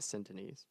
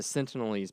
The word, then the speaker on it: Sentinelese: isolated Sentinelese peoples entities it's not a sin tonie's it's what I've heard there's an L I don't care this is how I've heard it pronounced all week the sense of these people sent in it I don't like it no it's not housing everyone else here it's the Sentinelese people you're so dumb we're